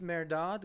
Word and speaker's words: Mehrdad: G flute podcast with my friend and yours merad one thing I'm going to ask you though before we do propably kick off is can you pronounce your name for me it's merad it's not it's not